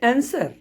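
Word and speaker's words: answer: तो एस डब्ल्यू में जैसे आंसर, तो डब्ल्यू का कोई प्रोनाउंसिएशन नहीं आ रहा है। आंसर जो है, आंसर, उसमें ANSER ये प्रोनाउंसिएशन आ रहा है, डब्ल्यू नहीं बोला जा रहा है।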